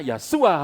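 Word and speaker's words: ישוע: Indonesia tulisannya bacanya Wah kalau aslinya waktu itu kan Bahasa Arab Bahasa apa ke Ibrani Iya sua-sua gitu ya suara lengkapnya yeshua hamashiach Yesus Kristus itu besarnya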